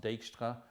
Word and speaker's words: Dijkstra: path finding or the deta algorithm I think that's a Dutch name so it's polish pronounced Dijkstra doesn't matter you'll still